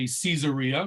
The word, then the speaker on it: Caesarea: So the more Anglo would say Caesarea because of Caesar. In Hebrew, we say Kesar, so it's with the ka sound in the beginning, Kesar.